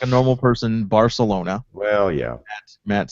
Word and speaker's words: Barcelona: I said it last week, and Matt goes, "That's not how you pronounce it." So I was going to have Matt say it. Barcelona. Say it again. Barcelona. Barcelona. Oh, the Castilian Spanish.